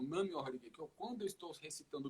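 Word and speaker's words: Nam-myoho-renge-kyo: Eu quero que você faça essa pronúncia devagar para as pessoas entenderem o que você está falando e por quê. Nam-myoho Renge Kyo. Nam-myoho Renge Kyo.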